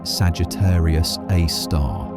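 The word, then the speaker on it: Sagittarius A*: called Sagittarius A star, pronounced Sagittarius A star.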